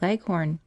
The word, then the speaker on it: Leghorn: Shanghais, and the White Leghorn. Phoebe, when she pronounces this word, leaves out the H and bears down heavily on the last syllable, so that it rhymes with begone.